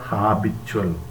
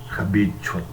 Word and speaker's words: habitual: But keep in mind that while we use the adjectival form, it is not habitual. That is to be pronounced habitual. Okay, habit, habitual.